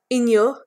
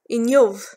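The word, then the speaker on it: inniu: Like most Irish words, it can be pronounced in a number of different ways. In-yuh, in-yuv, or in-yew. In-yuh, in-yuv, in-yew. They're all correct.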